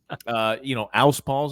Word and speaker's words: Alspaugh: Alspaugh's a little bit difficult.